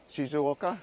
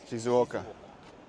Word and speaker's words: Shizuoka: the name of this place how do you pronounce it shoka shizuoka yes shizuoka and Mount Fuji it's probably in that direction